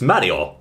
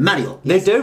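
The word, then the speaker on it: マリオ: sound like that then Mario would sort of be h no no no no it's actually Mario now they don't say notice they don't say Mario they actually say Mario so there you go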